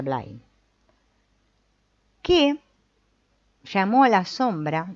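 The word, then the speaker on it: Bly: que hay un tal Robert blay que fue un poeta y un pensador americano creo que se pronuncia bline que llamó a la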